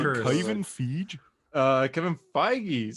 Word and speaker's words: Feige: eddie brock no it's tom hardy um kevin feige did an interview recently saying and in that